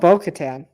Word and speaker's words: Bo-Katan: Um, By, how about Bo-Katan? I was gonna say the person who I think is gonna die is gonna rhyme with row and baton.